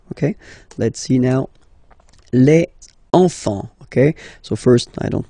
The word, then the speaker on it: enfants: same pronunciation here, enfant, don't pronounce the T, you don't pronounce the S, enfant, okay, and now